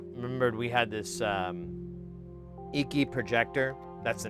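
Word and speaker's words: Eiki: So you guys, some of you might have remembered we had this um Eeky projector. That's the name of the brand. E I KI. I think it's pronounced Eeky.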